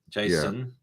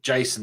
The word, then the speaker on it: JSON: JSON was Jason. Yeah. Difference. Yeah. Difference. Just think Jason, the person's name, Jason.